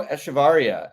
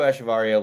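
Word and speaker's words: Echavarria: Nico esar ETA varia I think the emphasis is at the end of his name varia all right Nico asharia uh I'll just say it Wrong Nico asaria legendary two out of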